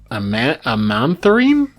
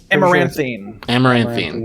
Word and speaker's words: amaranthine: We are going to move on to SCP-7070, Amantharine. Do you know how to pronounce this, Plague? Amaranthine.